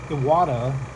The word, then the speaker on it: Iwata: Now I am using, I believe it's pronounced Itawa or Itawa. Not the cleanest one. Iwata Eclipse HP-CS.